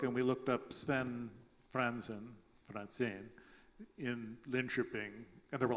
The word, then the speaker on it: Franzen: Franzen is a Swedish name. In Sweden, they spell it with an accent over the E, and they pronounce it Franzen.